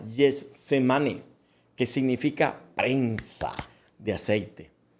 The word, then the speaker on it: Getsemaní: Esta palabra viene del arameo Gethsemane, se pronuncia Getsemane, que significa prensa de aceite.